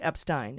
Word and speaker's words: Epstein: If you have an E and an I together, the last vowel does the talking. So the first vowel does the walking, the last vowel does the talking. So if it's E-I, it's pronounced I, like Epstein.